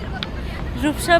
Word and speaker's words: Rupsha: Guys, now I have come to Rupsha Bridge with Obi's sister Swarna. Correct pronunciation?